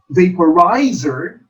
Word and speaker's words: vaporizer: And in the word vaporizer, the third syllable is accented or stressed. Vaporizer.